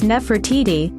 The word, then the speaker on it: Nefertiti: and Lower Egypt while modern egyptological pronunciation renders her name as Nefertiti the beautiful one has come and probably contemporarily pronounced naftida from older nafrat Ida